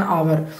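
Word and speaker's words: hour: हैं, जैसे कि एन आवर है ना, तो आवर एच से स्टार्ट होता है लेकिन एच साइलेंट है, और ओ यू आर आवर से स्टार्ट होता है, मतलब आ जो है आ रहा है, इसलिए हम जो है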